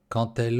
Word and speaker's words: quand elle: Не говорите quand elle, а quand elle. Буква D произносится как T.